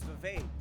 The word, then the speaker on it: Vivek: My name is Vivek. It rhymes with cake.